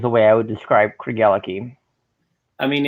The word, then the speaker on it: Craigellachie: was taught to pronounce cregela key so craig has the key to ella's heart that was the phrase